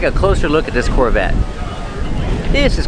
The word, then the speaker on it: Corvette: This Corvette's from the 70s. And let's talk about pronunciation. Corvette. The T is a stop T. The E is silent. Corvette. Corvette. Pronounces V with voice.